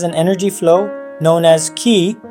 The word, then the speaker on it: chi: the body has an energy flow known as key pronounce Chi which can become disrupted by stimulating certain